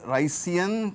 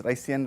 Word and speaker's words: Ricean: famous Communications engineer rice so sometimes we call it ricean PDF or we may even spell it as r i c i a n all are okay rice ricean Ren all of it is okay but ultimately it